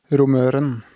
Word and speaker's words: Romøren: Well, that's actually a big discussion how it's pronounced, since it's the name is actually from Sogn. So, oh, really? Yeah, they pronounce it Romøren. Yeah, it's from a place called Romøyri. Okay. Yeah. But I say Romøren. But different people say it different ways.